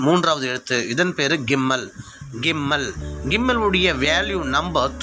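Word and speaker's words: גימל: கிம்மல்.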